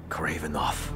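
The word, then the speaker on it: Kravinoff: Kravenoff. So we've been saying his name wrong the whole time.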